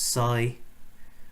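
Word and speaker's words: psi: null and alternative hypotheses this Greek letter here is pronounced sigh okay so the null hypothesis is that sy equals 0 and that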